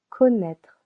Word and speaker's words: connaître: Connaître. to know as well. Usually in French when you find letter Ocon the sound. O. In this case, connaître has two syllables.